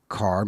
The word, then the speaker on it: Kahr: It's sponsored by CAR Medical, or that's spelled KAHR.